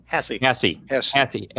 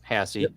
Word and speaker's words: Haase: Well, anytime now, we should be hearing from McKenna Haase. Haase. Like sassy. Sassy Haase. Spelled like Haas, but pronounced Haase.